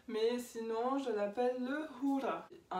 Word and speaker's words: hura: Alors c'est un peu dur à dire, mais sinon je l'appelle le hura. Ici le H est aspiré, les U se prononcent OU, les R sont roulés.